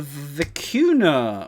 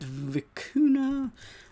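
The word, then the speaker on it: vicuña: an anagram of that so it is a vacuna i actually know how you say it vicuna uh i can find out in a second so oxford pronounces it like this the cuny pecunia oh of course the end has a tilde on it a wild relative the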